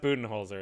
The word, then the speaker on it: Budenholzer: well he's coach bud but his name is pronounced budenholzer it's one of those weird things so for